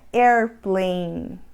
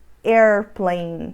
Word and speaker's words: airplanes: forma correta D o airplanes airplanes in a gente não pronuncia o e no final da palavra na realidade A grande